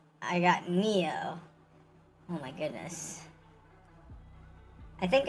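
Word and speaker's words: Nioh: It's pronounced Neo, but in English the word Neo is N-E-O rather than N-I-O-H.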